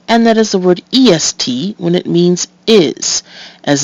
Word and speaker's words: est: or either is acceptable now EST has has a second meaning and that's the direction East in that case it follows the normal rule for E followed by two consonants and is pronounced EST now let's take a